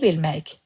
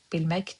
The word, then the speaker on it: bilmək: Remember I told you when the words end with k sound in pronunciation, they turn into y, bilmək.